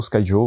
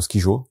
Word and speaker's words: Skyjo: C'est là pour le coup une alternative plutôt au Skyjo, au Skijo, comme vous voulez le prononcer.